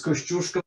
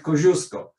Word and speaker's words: Kościuszko: Okay, Australians are not able to pronounce Kościuszko, so they call it Koziuszko. And it is accepted in the law.